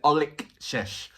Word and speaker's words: Olexesh: The song is called Shalom, featuring Olexesh, and I hope I'm pronouncing your name right. It's Olexesh. That's the way.